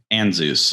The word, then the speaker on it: Ansuz: Anzus.